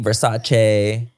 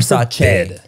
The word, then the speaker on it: Versace: Oh yeah, because it was Versace, Versace. What did she say? Oh God, Versace. And it's Versace.